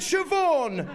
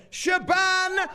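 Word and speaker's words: Siobhan: Shaban no is it shioon no is it Shaban I'm not even sure of course it is Shaban the cand Oho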